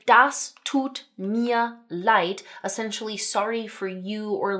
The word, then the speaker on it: Leid: One, that the 'd' at the end is making a 't' sound (light). Okay? And that the 'ei' when they're together like this, says, 'i' like the eye on your face.